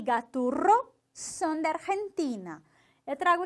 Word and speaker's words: Gaturro: E, de novo, o desafio do R bem forte. Gaturro, certo? Gaturro.